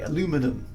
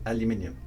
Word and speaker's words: aluminum: But is it actually pronounced that way, aluminum, as opposed to aluminium?